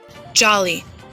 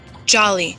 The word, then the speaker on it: Jolly: and press that button jolly Jolly did you hear that it's jolly well honestly sometimes they feel annoyed when people mispronounce my name because my name is actually an English word it's an adjective and it's very common